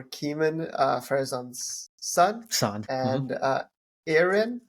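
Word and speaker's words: Eärien: Farazan's son, son, and Erin. I don't know if I'm saying it right. Arian or something. Yeah, Arian, yeah.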